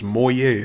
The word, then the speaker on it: Moyai: the mob we got now is called versus moyet and that's how you pronounce it so since meet moyer boyfriend is